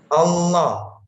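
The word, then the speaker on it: الله: tebal atau tapsin yaitu lafadz Allah apabila di awal atau huruf sebelumnya berharakat fathah atau dhummah maka dibaca tafkhim atau tebal Hai caranya saya contohkan Allah Wow loh ayatullah Rosulullah innauloha Barokallah row loh Nasrulloh cara membacanya tebal jadi nanti saya Tunjukkan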